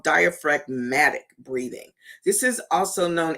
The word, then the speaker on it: diaphragmatic: That diaphragmatic, that's how it's pronounced, diaphragmatic.